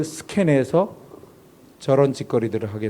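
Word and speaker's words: σκηνή: 스케네라고 불렀어요. C니 K가 C로만 바뀌었네요. 영어로 읽을 때 씬이라고 읽지만 이건 사실 헬라어에서 온 거예요. 스케네.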